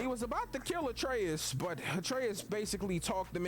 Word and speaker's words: Atreus: So after this, you remember when I told you that Atreus rhymes with Betrayus?